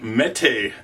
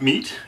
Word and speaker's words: Mete: everyone in this episode talking about the canic Mee series not meat even though it's spelled meat Mee is a pronunciation it's a